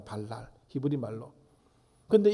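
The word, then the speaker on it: בָּלַל: 이 혼잡하게 하다라는 말의 뜻이 이 발음이 발랄이라고 합니다. 발랄, 히브리 말로.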